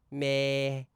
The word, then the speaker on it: 咩: second one is （第二個就是） The word "咩" is because "咩" in pinyin is "me", just like the English me. （”咩“這一個字因為”咩“在拼音是”me“好像英文的 me 那樣） But it’s actually like the pronunciation of sheep. The pronunciation of sheep’s cry “咩~” （但其實是好像羊的發音羊叫的發音 ”咩~“） Let’s